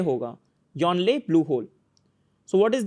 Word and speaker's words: Yongle: So Yongle Blue Hole, G is silent actually, Yonle hoga, Yonle Blue Hole.